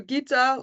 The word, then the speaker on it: Gitta: My name is Gitta. I also listen to Gitta, like from the Git from GitHub. No worries about that one. The G is really hard for everybody to pronounce, so I listen to everything.